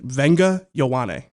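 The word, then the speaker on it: Vega Ioane: 30 visits, and Penn State interior offensive lineman Venga Ioane is one of the early visitors. I had to text Fran to make sure I got that pronunciation right. Venga Ioane.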